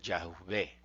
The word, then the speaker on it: Yahvé: Y el- la pronunciación más acercada podría ser Yahvé, más que Jehová, Yahvé.